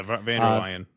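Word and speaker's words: von der Leyen: Um, he was supposed to be meeting with uh, Ursula Vanderladen. Is that how you say her name? Yeah, Vander Lion.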